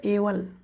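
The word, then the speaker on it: evil: पन्नास व 50 व एवल एवल किंवा इवल म्हटलं जातं एवल किंवा इव्हल म्हटलं जातं इव्ही आय एल ई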